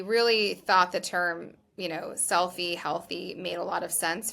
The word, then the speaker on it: Healthie: So we are Healthy with an IE at the end, like selfie.